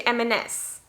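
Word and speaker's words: M&S: marks and spencer but you could also say m s so it's very common to hear oh i need to go to mns and so it's not eminems it's not something else it's max and spencer so here you go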